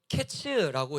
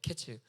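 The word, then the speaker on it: קֵץ: 근데이 끝 우리가 아는 그 끝 끝이라는 끝났다라는이 끝이라는 단어를 또 히브리어로 하면은 캐츠라고 이야기를 해요. 캐츠. 그니까이 둘의 발음이 굉장히 유사하죠. 카이츠, 캐츠라는 거.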